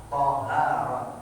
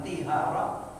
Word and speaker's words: tahara: Tahta dzalikal jins wa taharatu bi fathit ta lughatan an-nadhafatu. Adapun taharah bersuci bi fathit ta, ta-nya dibaca fathah, tahara, jangan tihara, jangan tuhara.